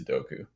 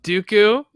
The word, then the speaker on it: Dooku: shows the Army to doku say you butchered two of those names what which one Dooku oh sorry and Jango you know what's you